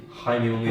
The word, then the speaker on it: Jaime Munguia: A fight that could happen is Jaime Munguia. He's just coming off a win against Spike. Jaime Munguia. That's how you pronounce it.